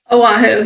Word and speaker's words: Oahu: And let me know where I pronounce this right, Annaclaire. Oahu? Oahu, yes. Oahu.